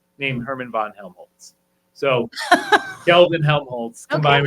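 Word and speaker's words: Kelvin-Helmholtz: Can you pronounce it? I can. Okay, go It ahead. is Kelvin Helmholtz clouds.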